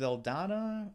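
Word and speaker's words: Saldana: um we also have Zoe's l Donna is how you pronounce her last name Gamora okay I know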